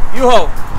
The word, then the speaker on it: U-Haul: Oye, ya estamos aquí, miren, así es que se pronuncia el nombre. U-Haul.